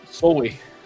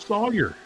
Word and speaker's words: Sawyer: Soy. She said soy. How do you get that out of Sawyer?